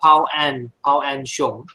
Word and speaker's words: Pao-Ann Hsiung: Pronounce my name. Actually, it's Pao-Ann Hsiung.